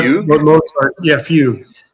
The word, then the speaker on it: fugue: How do you spell it? A Like fugue? what Mozart? Yeah, fugue.